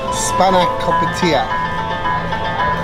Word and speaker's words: spanakopita: We then have the spinach pie, which I can't pronounce. Let me just check how you say it in a second. It's spanakopita.